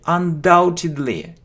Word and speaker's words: undoubtedly: let me see okay undoubtedly we don't pronounce B undoubtedly undoubtedly means there